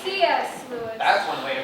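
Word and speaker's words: C. S. Lewis: I don't know about the rest of you, but I'd really like to know what TX Lewis had to say about time. Oh, good grief. It's C.S. Lewis.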